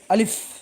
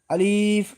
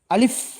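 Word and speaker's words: آلف: এ হরফটির মধ্যে কোন টান হবে না। উচ্চারণ হবে আলিফ। যদি আমরা টেনে পড়ি তাহলে এখানে ভুল হবে। আমরা অনেকেই আলিফ বলি। এটা আসলে ভুল উচ্চারণ গলত। এটা আলিফ এরকম হবে।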